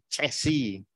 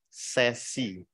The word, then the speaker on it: sesi: Ada yang menyebut cesi, tapi karena ini adalah dari bahasa Belanda, menurut beliau itu disebutnya adalah sesi.